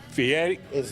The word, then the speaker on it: Fieri: Fieri. Fieri is the correct pronunciation.